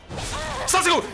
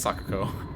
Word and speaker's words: Sako: What do you I Where was the little Where's my counter at Sasako? No. I'm sorry I said your name wrong. It's Sako.